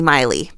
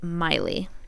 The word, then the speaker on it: Myle: the screen that um we kept calling the baby baby mile because that's the way it's looks phonetic mile mle but the name is actually pronounced Miley yeah so we apologize